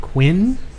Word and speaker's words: Quynh: Dave, and I'm going to pronounce, I believe it's like Quinn. How you spell it? Quynh. Quinn.